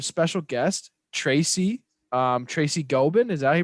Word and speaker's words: Gobin: we have a special guest tracy um tracy gobin is that he pronounced your last name yeah yeah well in elementary school they say tracy goblin but not just open awesome okay so i